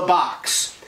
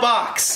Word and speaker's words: B0XX: finishes it and releases it in 2017, and it's called The Box.